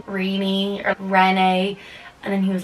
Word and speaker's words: Renee: And then I was like, Renee or Renee. And then he was like, oh god. And then I just told him like, it's Renee, like Renaissance.